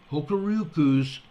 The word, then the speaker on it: Hokuriku: H-O-K-U-R-I-K-U Electric Power. Hokuriku Electric Power, I believe it's pronounced.